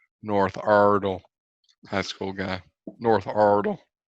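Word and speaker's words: Iredell: Ardell high school guy North Ardell yep that's how you say it hey I've got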